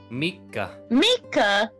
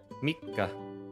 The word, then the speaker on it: Mika: like a little boy Mika Mika not Mike not spelled like Mike it's like come on Mickey Mouse a lot of people's